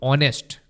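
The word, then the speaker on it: honest: कि कृष्णा इज अब ऑनेस्ट ऑनेस्ट में एच साइलेंट होता है तो इसलिए यहां पर एन लगता है ही इज एन ऑनेस्ट बॉय अगला क्वेश्चन है आपके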